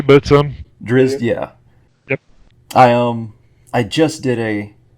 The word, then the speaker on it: Drizzt: So I'm not sure I pronounced that correctly, but... Drizzt, yeah.